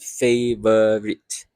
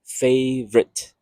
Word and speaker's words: favorite: The word favorite is not favorite, it's favorite. So 2 syllable, 2 sounds.